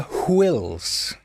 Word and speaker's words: Whills: A synopsis was eventually arrived at called The Journal of the Whills. It's W-H, so you've got to pronounce it Whills.